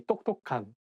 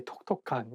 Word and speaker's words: 똑똑한: You might need to practice a little bit more and say 똑똑한. You cannot say 똑똑한. You cannot say 톡톡한.